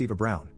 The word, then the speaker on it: Eva Braun: She asked why not, and I reminded her of the historical figure Eva Braun, which is pronounced Eva Brown, the wife of the person who started World War II and probably one of history's most evil figures.